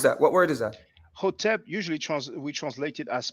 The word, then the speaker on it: Hotep: the O sound, because in the Coptic, we have the Hotep. For those who wonder about the vowels, there's a word that means brother. We usually pronounce it sen because it's the biliteral SN. But in the Coptic language, it's pronounced son, SON. So just similarly with the Hotep, which is HTP, some people pronounce it Hetep. We know with the Coptic that it is pronounced with the O, you see?